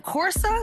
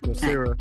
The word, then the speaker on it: Coursera: So I did share information on the Meta certification program through, I cannot pronounce the name, Corsa? Couresa. Corsa. Thank you. I can never pronounce that. Coursera.